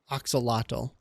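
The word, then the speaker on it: axolotl: Bucket of oxalotl.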